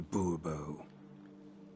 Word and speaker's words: Bobo: Bobo fine Monsieur de Bobo the emphasis falls on the last syllable bull bull mm-hmm well